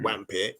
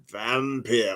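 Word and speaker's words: Wampyr: most certainly have been the W's are pronounced with a V so it's not wampit it's vampire or brown love that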